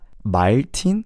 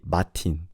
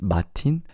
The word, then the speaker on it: Martin: So it's not Martin, we just say Martin. We don't pronounce the R in Korean. We say Martin. So instead of Martin, it's Martin.